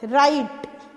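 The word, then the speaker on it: write: उसके बाद है राइट, तो वही W जो है वो उसमें साइलेंट होता है, W जो है वो साइलेंट है, ठीक है।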